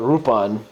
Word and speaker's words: Rupan: So when they released these here in America, they got around it by calling it Rupan, using the original Japanese phonetic pronunciation.